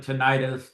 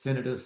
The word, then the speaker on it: tinnitus: Sometimes people pronounce it tinnitus, tinnitus.